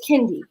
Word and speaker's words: Kendy: gonna have a problem her name is Kendy and I need everyone to pronounce her name the right way because she's been here a year and a half now we have been patient he has corrected every last one of y'all but y'all will not continue to call my child candy okay that's something that